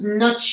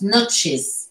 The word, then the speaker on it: notches: Au pluriel, ES. Et le ES se prononce, notches. Ça fait comme deux syllabes.